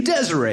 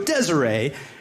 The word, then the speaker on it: Desiree: I say the name Desiree, because that's what it looks like. I go, Desiree, and this girl corrects me. She's like, no, it's pronounced desire.